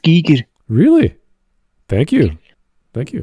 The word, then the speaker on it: Giger: biolog also fun fact the name is actually pronounced Giger really thank you thank you I appreciate it Giger yeah g don't be